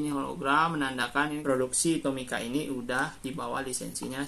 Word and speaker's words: Tomica: Ini kan bacanya Tomika ya, Om Sob ya. Ini Tomika, Om Sob.